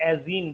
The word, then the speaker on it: azene: सर एजीन बोलते हैं, AZENE। Very good, इसे एजीन बोलते हैं, एक नाम।